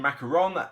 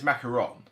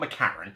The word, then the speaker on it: macaron: next one okay macaroon macaron i get a feeling it's macaron that's what i'm seeing a lot of the phonetic stuff say macaron or certainly not mccarron i think it's macaron or macaroon whatever if i pronounce